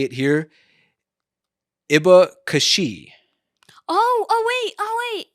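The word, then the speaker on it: abacaxi: pineapple grown in brazil iba kashi yeah so this is a really good word um yeah so if i remember correctly i think it's pronounced something more like a a bakashi probably something like that okay okay um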